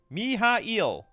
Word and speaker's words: Mihail: can live with this miile it looks like miale to me how to pronounce uh miale okay I'll listen to it later me mi mi mi mi it's yeah mihail is apparently according to pronounced names whatever there's moxes you find a